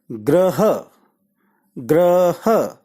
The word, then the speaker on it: ग्रह: शब्द के बारे में इस पहले शब्द का उच्चारण है वह ऐड ग्रह ग्रह योगों के पांव में जो आकृति है जो ध्वनि है वह र की ध्वनि है तो जब यह ग्रो के साथ र जुड़ेगा तो ध्वनि पैदा होती है ग्रह ग्रह और साथ में अ जुड़ा तो यह शब्द का उच्चारण बना ग्रह ग्रह ग्रह ग्रह का